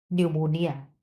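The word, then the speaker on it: pneumonia: न्यूमोनोकोकल न्यूमोनोकोकल निमोनिया किस bacteria से होता है? पी हर जगह यहां पे साइलेंट है। पी को कोई नहीं पढ़ेगा।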